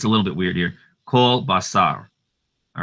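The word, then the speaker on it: כל: Kol basar. All right. Kol. It looks like it says kal here, but it's pronounced kol. This is called the kamatz katan.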